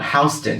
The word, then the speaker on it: Houston: city the american language south of houston houston no houston houston houston that's how they say it here they do they